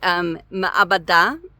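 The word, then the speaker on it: מעבדה: You have to actually account for that ayin. And so it usually sounds more like me'abada or ma'abada. And of course, everybody's always speaking so fast. It's really hard to really get a sense of what vowel they're putting with that mem. But ma'abada is basically how I always say it. And so the ayin really sounds like it has an a vowel under it.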